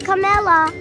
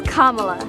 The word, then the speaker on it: Kamala: it's not Cala it's not camela it's Kamala KLA Harris kamla is for our schools kamla is for affordable child care that's KLA KLA Harris I understand adorable by